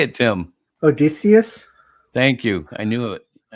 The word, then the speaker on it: Odysseus: Odysseus?